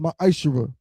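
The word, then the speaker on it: מעשר: Means 10th in Hebrew, and it's pronounced ma'ashera.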